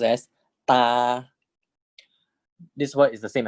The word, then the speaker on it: ตา: This word is pronounced as ta.